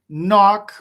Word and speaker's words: knock: knock on the door knock rhymes with clock right knock rhymes with